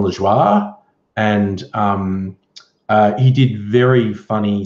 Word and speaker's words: Lajoie: to reading it phonetically I thought his name was Jon Lajoie but it's like a french-canadian name to John La Jolla and he did very